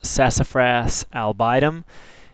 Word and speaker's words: Sassafras albidum: sassafras the scientific name is pronounced sassafras albidum it is a member of the lauraca family